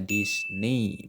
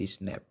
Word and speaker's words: Disney: SD dulu baru ngeh kalau itu bacanya Disney bukan di snap Gimana cara bikinnya bakal